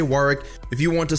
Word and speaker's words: Warwick: reintroduce the series with one of my Maine's Warwick and yes that is how you pronounce it both in the American and British dictionaries it is originally a British City so I will say Warwick if you want to sound like a candle